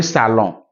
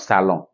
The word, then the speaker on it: salon: Let's go to N. Le salon. You can see N at the end of salon. But I didn't say le salon.